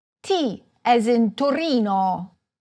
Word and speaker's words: Torino: In Italian the stress most often falls on the penultimate, or second-to-last, syllable: firENze. saLERno. toRIno. orvIEto. aBRUzzo. However, some words are stressed on the third-to-last syllable, such as MAntova, GEnova, Udine.